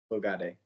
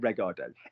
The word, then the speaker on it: regarder: Regarder. Good boy. Well pronounced, not regarder.